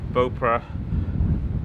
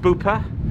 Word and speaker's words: Beaupre: windy when i mentioned how you pronounce beaupre beaupre bopra i can see how people some people call it i said bupa but if you look at the welsh spelling that's probably where the the bupa part comes from